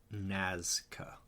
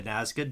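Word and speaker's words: Nazca: I didn't want to butcher the pronunciation. Naza Na N A Zca.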